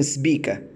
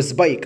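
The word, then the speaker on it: Spica: الاكليبتك اعتبارا من نجم اسمه نجم سبيكه طيب او سبايك على حسب النطق السماك الاعزل النجم ده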